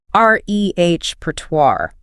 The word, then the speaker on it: repertoire: And we begin with repertoire, pronounced rehert. Rehertoire. The challenge here is entirely that French origin again complicating the ending sound, isn't it? It is. That war ending often gives learners trouble.